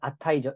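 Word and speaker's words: עַתָּה: 자, 그 다음에 아타이죠. 이제입니다. 자, 아타, 발음은 아타이지만, 이제 2인칭 대명사에 너가 있고요. 또 이제, 지금이란 뜻의 아타가 있다는 것, 자음이 다릅니다.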